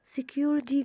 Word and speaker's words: security: مش بنقول security، لا security. ليه انا نطقت التي حرف تي ده نطقته دي؟ عشان ما بين حرفين vowel الاي وكمان الواي يعتبر من حروف الفاول بس لسه لم يثبت بعد.